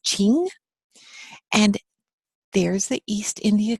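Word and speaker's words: Qing: Emperor was this dynasty qu ing is pronounced Ching and there's the East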